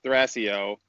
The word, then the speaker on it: Thrasio: It's actually a common question also internally of how do you pronounce the name? So the company is Thrasio, and it comes from Greek mythology.